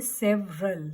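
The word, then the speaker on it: several: एंड सेवरल में ई की sound नहीं आती है, ई is silent here, so you will say सेवरल.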